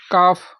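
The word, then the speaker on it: calf: तो फफ से पहले तो फफ से पहले काफ काफ मस बछड़ा हाफ मीस आधा ठीक दूसरा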